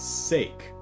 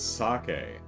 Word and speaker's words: sake: I read that word, I read it as sake, you know, using uh, you know, American English uh, uh, rules, pronunciation rules. So, I read that entire book as you know, and I read that as sake.